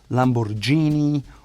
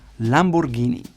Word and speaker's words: Lamborghini: It is not Lamborghini or Lamborghini, it is Lamborghini. Funny story, the brand started as a manufacturer of tractors, and you can still buy Lamborghini tractors to this day.